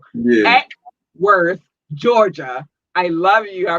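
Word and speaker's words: Acworth: Atworth, Georgia, I got it right this time. They've been checking on me and telling me I've been saying it wrong. Yeah. Atworth, Georgia, I love you.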